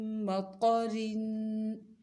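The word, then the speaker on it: مَطَرٍ: میم مطر، اس کے ہجے میم، میم زیر میم، میم زبر ما، میم طا زبر طا، میم مطا، طا کو خوب موٹا پڑھنا ہے.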